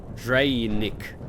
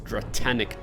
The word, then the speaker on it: Draenic: Am I pronouncing it correctly? Draenic Dust. Yeah. Because I used to say it as Dratanic Dust. Draenic Dust.